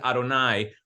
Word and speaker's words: Adonai: it in our prayers we pronounce it Adonai which is just a way of saying my my master but we don't actually ever say the name it's so holy okay so that's it